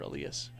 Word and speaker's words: Elias: of the Mariner pitcher Elias yes not the same thing called strike 101 but I think it's pronounced Elias like little lies Lopez last year it